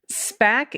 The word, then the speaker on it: SPAC: it may not be SPAC is generally pronounced as a single word oh look at that like I expected Colin is an S pack look at me and